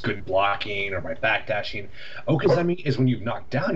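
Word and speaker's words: okizeme: Okazemi is the proper Okay, pronunciation, yeah.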